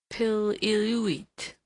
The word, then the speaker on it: Pil-iluit: A Kings River Indian told me that they call him Pil-iluit, which, rapidly pronounced with the first syllable heavily accented, is not unlike the lusty exclamation he utters on his way up a tree when excited.